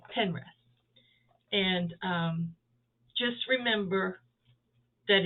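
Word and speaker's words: Pinterest: on pine pin rest i always call it pine rest you know it's spelt like pine red anyway pen rest and um just remember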